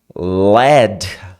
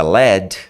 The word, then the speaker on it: lead: A mesma palavra, se você falar led, a pronúncia led se transforma em chumbo.